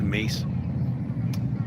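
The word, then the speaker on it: Myss: It's from Caroline Mace. Um, look her up if you can. Her last name is MSS, but it's pronounced Mace.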